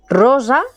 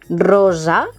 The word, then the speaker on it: rosa: Rosa, cuidado con la pronunciación de la S sorda y sonora. Rosa, no decimos rosa, sino rosa.